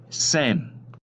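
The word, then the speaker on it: Sejm: monopolize their power in the same which is spelled SE JM it's the legislative body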